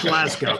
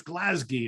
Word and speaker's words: Glasgow: and then it's like no that's not how you say it's glasgy and i'm like what